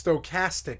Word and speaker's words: stochastic: did get it right stochastic no it's stochastic castic with a K it's a k is